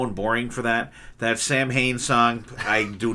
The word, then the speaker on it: Samhain: Bullet Band, Mother of Mercy from Samhain, which is spelt Samhain, but I think it's pronounced Samhain, No Excuses